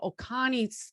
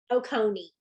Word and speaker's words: Oconee: And she is out of Oconee County Schools out of Georgia. And Oconee. so, what's that? Oconee.